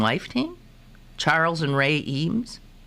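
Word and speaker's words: Eames: the husband and wife team Charles and Ray eem it's not the E we're talking about yeah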